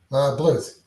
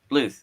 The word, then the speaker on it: Bluth: Am I saying Bluth right? Is that the right way to say it? Bluth. Bluth. Okay. Yeah. Yeah. Just like Ruth Bluth.